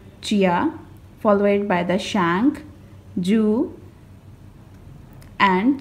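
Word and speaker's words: Zhou: is a shank and this one is a jo this one is a chin and this one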